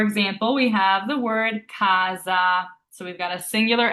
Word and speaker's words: casa: So, this is not pronounced kasa, which is the tendency for English speakers. It's actually pronounced kaza with that z sound and kaza means house.